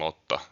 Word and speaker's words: Lotta: a fantasy universe, listen to how I am pronouncing Lotta and try and replicate it going forward.